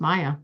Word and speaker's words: Maja: Um, it's a Y, so a G, a silent J, and it's pronounced Maya.